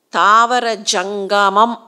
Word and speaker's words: தாவர சங்கமம்: ரொம்ப அழகான ஒரு பிரயோகம் அது தாவரச் சங்கமம் தாவர சங்கமம் அப்படிங்கறதுதான் தமிழ் உச்சரிப்பு தாவர சங்கமம்னு வருது அந்த